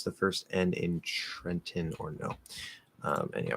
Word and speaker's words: Trenton: in trenton or no trenton uh no we we treat this like mountain um so trent now